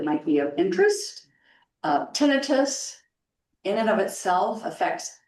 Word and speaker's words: tinnitus: So next slide it is tenitus. A lot of people say tenitis and what you have to remember is that the suffix itis actually means infection. So we all know laryngitis very common itis at the end menitis there's a lot of things that have that on the end and it's it's infection but tinitus is not an infection um and it it's